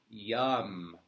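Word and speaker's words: Yam: And the seed syllable mantra for Anahata heart chakra is YUM. Y-A-M. Yum. Like yummy.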